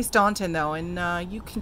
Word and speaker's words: Staunton: out to staunton virginia it's spelled staunton although people say it's pronounced stanton i'ma say staunton though and uh you